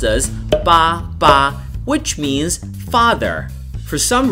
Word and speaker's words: 爸爸: And the reason is quite simple, because in Chinese, 8, especially when you put two 8s together, is pronounced as 爸爸, which means father.